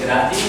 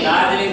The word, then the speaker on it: दार्जिलिंग: कलकत्ता से दार्जिलिंग लिखा है बेटा, ये दार्जिलिंग नहीं है। इसका नाम क्या है, सही उच्चारण क्या है इसका? दार्जिलिंग।